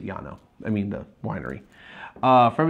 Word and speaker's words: Llano: of yanam estacado is there's a town in Texas called Lana felt the same way but they pronounce it yah no i mean the winery